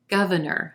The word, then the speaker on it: governor: candidate number three governor governor three syllables here emphasis on the first syllable and the ah as in plum vowel sound governor then our second syllable is gonna sound like a schwa very quick and an unstressed er sound in our third